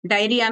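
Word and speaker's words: diarrhoea: डायरिया में आरओ ये silent होता है।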